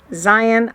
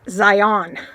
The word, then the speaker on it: Zion: Zion is pronounced Zion like lion, not Zion, which so many people say.